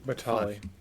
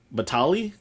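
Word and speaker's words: Battaglia: Batali. Batali. Yeah, the G is silent.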